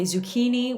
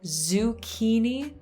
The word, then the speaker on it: zucchini: a feminine word so whenever you say zucchini zoo that ooh ooh that kind of relaxed you in italian zoo so even the zed is different so in english you say zoo it's it's even harder until it's so basically to do this z sound you have to pretend that you're about to do a d so you kind of